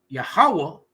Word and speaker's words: Yahawah: We not banging on nobody that call him Yahweh, but his name is Yahawah.